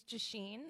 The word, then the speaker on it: Jiaxin: thank you hi everyone my name is J Sheen it's pronounced like machine with a J just why my